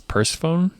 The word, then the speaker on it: Persephone: pseudonym in Eternal youth I think you pronounced that last one wrong it's Persephone Persephone sorry eternally yeah Cleo